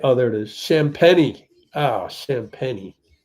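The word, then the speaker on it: Champagnie: Julian Champagne. I think he's one of those guys that doesn't pronounce it right. because it's obviously French. Oh, I thought they Oh, there is champenni. Oh, champeni.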